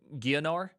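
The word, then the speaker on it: Geonor: o r uh how do you say that gonor gor we beat gonor on Hardcore first try ever Jon nor that was the most intense moment of my lifetime it's pronounced gonner all right goar did you see goar sh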